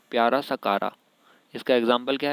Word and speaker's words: Chara: इसमें CH को का बोलते हैं, CHA का, और रा। इसको चारा नहीं पढ़ना है चारा भी कह सकते हैं हम, लेकिन असल में इसका जो प्रोनाउंसिएशन होता है उसको कारा बोलते हैं।